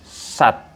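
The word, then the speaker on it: 삿: Nah, apabila sang siat di akhir, maka ini hurufnya T. Jadi sat. S-A-T.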